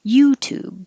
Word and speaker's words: YouTube: These are both oo, so that's easy vowel, but put the stress on U. YouTube, so that U will be a little longer.